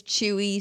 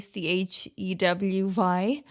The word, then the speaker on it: Chewy: And the text-to-speech had an interesting pronunciation there, but this is Chewy, Chewy.